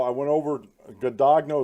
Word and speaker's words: Guadagno: Guadagno is how you pronounce her last name according to the websites.